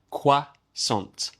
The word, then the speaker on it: croissant: It looks like croissant, but we say quasant. Quasant. We borrowed that word from the French.